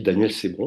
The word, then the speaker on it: Daniel Cesbron: professionnel c'est Daniel Cesbron on dit Daniel Cesbron parce qu'en fait, voilà, ça se prononce comme ça, qui elle est psychologue, qui